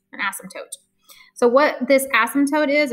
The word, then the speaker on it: asymptote: called it's called an asymptote okay i know it's a weird word and the p is completely silent you don't even say pronounce the p it's an asymptote an asymptote so what this asymptote